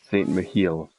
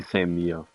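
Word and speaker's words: Saint-Mihiel: Saint Michiel. Wait, no, that wouldn't be Saint Mia. It would just be Saint Mia. They don't really pronounce H's in France.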